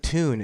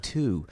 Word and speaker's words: Tune: I thought it was Nick Toon. It's spelled Tune, but he called himself Nick Two.